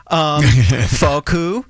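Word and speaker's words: フォーク: Foku.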